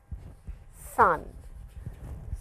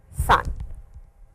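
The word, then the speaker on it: さん: This is sun. So ichi knee and sun please I'll draw it once again for you.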